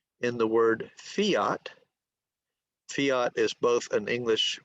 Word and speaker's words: Fiat: But if I talk about the letter F in the word fiat, fiat is both an English word for law and also a brand of car. Okay, so the F in fiat is voiceless.